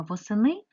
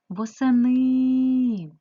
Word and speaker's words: восени: записуємо з вами транскрипцію при вимовленні слова восени е наближається у вимові до звука ставимо наголос восени Тепер порахуйте будь ласка